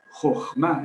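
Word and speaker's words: חכמה: Jochma es la pronunciación correcta de eso que está ahí en hebreo, Jochma. Al final se puede poner una H, pero como es totalmente muda, pues...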